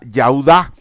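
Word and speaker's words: יהודה: viene Judá que viene de la raíz hebrea yuda que significa Dios alabado yahwe alabado luego nace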